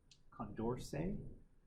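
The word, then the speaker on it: Condorcet: get Nicolas that's cool Condor said that we've conduce it he's a friend she's French so Condor say because just like Chevrolet you don't pronounce the T at the end right is a French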